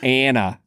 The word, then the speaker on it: Anna: I love that you are already so opposed to the film that you won't even pronounce her name Anna. You're just like, no, it's Anna. This is the Hey, film man, that I watched. I'm from Ohio, man. It's Anna. I have my critique for